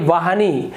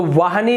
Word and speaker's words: वाहिनी: की सवारी करने वाली तो वाहनी नहीं होगा यहां पर उच्चारण होता है उसका शुद्ध रूप होता है वाहिनी यहां पर हो जाएगा आपका वा ह में छोटी की मात्रा और न में बड़ी की मात्रा वाहिनी हंस वाहिनी इसी प्रकार से कवित्री